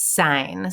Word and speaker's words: sine: sine cosine and tangent i know it looks like sin but it's an abbreviation so it's sine so make sure that that's how you're pronouncing it sine cosine and tangent